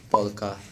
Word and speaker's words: Pokka: I'm not sure if I'm saying it correctly, but I like polka. Polka. Yeah, polka, polka. It's just polka, there's no L.